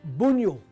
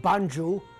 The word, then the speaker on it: Bunjil: The real pronunciation is Bunyul, because Aboriginal languages are documented in Latin and must be spoken so.